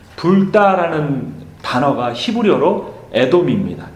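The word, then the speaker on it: אדום: 이 붉다라는 단어가 히브리어로 에돔입니다. 에돔. 그리고 이 털이라는 단어가 히브리어로 에사우입니다. 우리나라 발음으로 하면 에서입니다.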